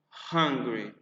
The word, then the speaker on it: hungry: were significa muito muita very very hungry fome hungry for a pronunciar uma palavra em inglês que começa com